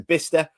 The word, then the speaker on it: Bicester: So it's Bicester, but it's pronounced. Right. Yeah, Bicester, that's it.